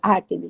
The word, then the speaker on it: Ártemis: ó é o o a ênfase no a é isso que eu imaginei que eu tava fazendo a pronúncia errada mesmo é o ártemis né que a Paula